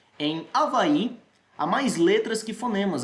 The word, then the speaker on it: Avaí: beleza pessoal esse h não é pronunciado a menos que você queira americanizar coisa e dizer ruae erro ai que avaí inglês mas a gente está na língua portuguesa então esse h gente não pronuncia avaí é como se você tá passe aqui pronunciar só a vai belezinha a mais letras